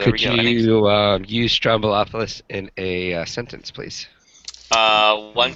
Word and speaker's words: Stroumboulopoulos: George Stroumboulopoulos.